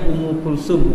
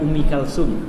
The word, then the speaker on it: أم كلثوم: Ummu Kulthum itu ejaan Arab yang sahihnya Ummu Kulsum, bukan Ummi Kalsum. Ummu Kulthum pakai ta.